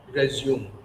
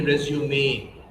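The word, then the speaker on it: résumé: So the last E sounds as A. You got it? Never ever say resume. At an interview, you need to say resume.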